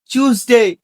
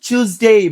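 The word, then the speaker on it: Tuesday: সেটা হল আইসল্যান্ড এটা এটা আমরা বলব সঠিক উচ্চারণ। ব্রিটিশ ইংলিশে টুসডে। আরে মসাই কি চুজবে? এটাকে কলকাতার এক্সেন্টেজ বলার ট্রাই করলাম তাই না? তাহলে এটাকে আমরা বলব টিউসডে।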